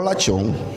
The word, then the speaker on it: lashon: eso es también considerado lashon hara. Con la lengua, perdón. ¿Cómo se escribe? Usar. Así como suena. Así mismo. L-A-S-H-O-N, hará, con H. Como lechón, pero lachón.